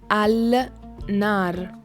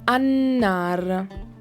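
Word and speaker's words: النار: to the word "NAR" in theory I should read "AL-NAR" but in reality I don't say "AL-NAR" but I say "AN-NAR" so I no longer pronounce the letter "L" of the article "AL" and instead pronounce the letter "NUN" in a reinforced way, the letter "N" of the word "NAR".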